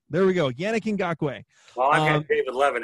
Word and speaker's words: Ngakoue: I never can pronounce this name. Ngakoue. There we go. Yannick Ngakoue.